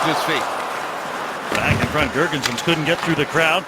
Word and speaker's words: Girgensons: He likes to have that S pronounced at the end, Girgensons, like most Latvians.